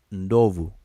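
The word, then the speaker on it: ndovu: v u that's how it's spelled and it's pronounced novu Novo that's how it's pronounced now I'm not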